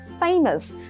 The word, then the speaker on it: famous: Phương án B chúng ta đọc là famous. Famous có nghĩa là chữ A ở đây mình sẽ đọc thành âm gì đây? Âm A, được chưa? A, famous. Đấy, famous có nghĩa là nổi tiếng.